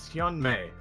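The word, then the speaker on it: *Hyun-ae: My name is Hyan May. The star, of course, is silent. It just represents that I'm an AI.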